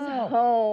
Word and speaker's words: home: Could you tell him sometimes the E is... silent. Sometimes you don't say the E at all.